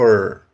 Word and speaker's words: her: Entretanto, muitas vezes esse H do her é mudo, ele não soa. Então, essa mesma frase você pode ouvir algo como You love her, you love her, certo?